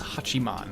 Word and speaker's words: Hachiman: we are back and it is Hachi maan that is how you say it that is how they